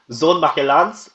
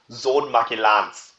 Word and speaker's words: Sohn Magellans: That's actually how you pronounce it. German pronunciation is really difficult, so you go from Son of Magellan, which is would be the English translation, to Sohn Magellans.